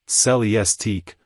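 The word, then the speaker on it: Celestiq: to order by hand celestic pronounced cellistic production will necessarily be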